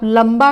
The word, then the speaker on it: लंबा: आप लंबा का उच्चारण कीजिए, यहाँ पर न जैसी ध्वनि नहीं आ रही है, यहाँ पर म की ध्वनि साउंड आ रहा है, तो यहाँ पर AM का यूज करेंगे।